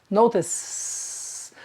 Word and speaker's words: notice: Notice that the word notice is spelled with a C-E, but the final sound is s, notice.